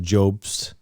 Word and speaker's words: Jobst: I think it's Jobst. They pronounce it Jobst.